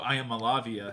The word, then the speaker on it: Iamaleava: Nico Iamaleava.